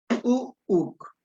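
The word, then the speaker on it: u'uk: Y cuando sale el sonido, sale junto con la vocal u. Uuk. Y divido mi palabra porque es una vocal rearticulada.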